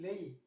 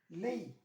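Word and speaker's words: lei: plural plural Lee you once I can see lay just like this here lay lay means you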